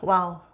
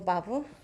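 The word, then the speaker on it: וָו: 그래서 와우는 워터 할 때 이 영어에서 이 발음하고 비슷하다고 봐주시면 되고요.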